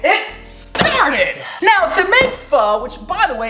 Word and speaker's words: pho: Now, to make pho, which by the way, it's pronounced pho, not pho, even though it's P-H-O, it's not sounded like that.